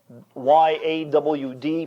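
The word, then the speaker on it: יד: And it's spelled in our English Y-A-W-D, pronounced yawd. Like a southerner would say, I've gone out my backyard.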